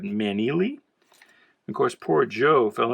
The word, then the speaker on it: Maneely: Now, I mispronounced this in a recent video and got corrected, so I guess it's Joe Maneely, not Manley, but Maneely.